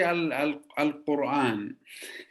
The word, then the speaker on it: Quran: In Arabic, we say al Quran. Quran. Quran. You Okay. cannot say qa.